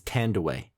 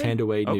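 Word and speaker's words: Thandiwe: Actually, it's from what I understand, is the proper pronunciation these days is Tandaway. Tandaway? Tandaway Newton.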